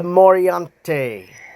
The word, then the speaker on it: Moriante: That is how you pronounce this. Even Google search says this is how you pronounce it. And if you say it on Google search, the dragon pops up. So morante or morante. Uh give a little roll to it.